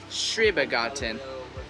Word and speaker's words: Schrebergarten: concept, and the name of the garden is Schrebergarten. How do you say it? Schrebergarten.